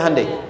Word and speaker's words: Hyundai: bikin Honda sini hundai Hyundai kan dibacanya Handai ya kan sana Honda